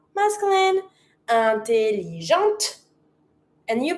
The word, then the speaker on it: intelligente: So, because I'm not pronouncing my e, I have to pronounce my t but it's feminine.